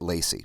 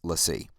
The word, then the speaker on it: LaCie: And some people pronounce it Lacey, but it's LaCie.